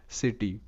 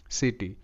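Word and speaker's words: city: তো এটার উচ্চারণও কিন্তু সিটি সিটি তো এখানে সি স হিসেবে উচ্চারিত কেন কারণ কি এখানেও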